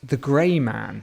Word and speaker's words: The Gray Man: Today we are going to be talking about The Grey Man. Mm-hmm. Sorry, let me rephrase that. The Greyman, which rhymes with your name, Eamonn.